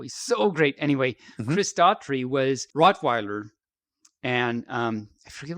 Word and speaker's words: Daughtry: But it's because of the one episode where Chris Daugherty. Let me say his name. Easy for you to say. It is not, as a matter of fact. No, it's not. Daughtry. Chris Daughtry, who is actually, we love Chris.